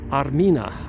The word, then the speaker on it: Armenia: to the name Armenia Armenia is used to be pronounced or said Armina Arina is the ancient name for Armenia and that's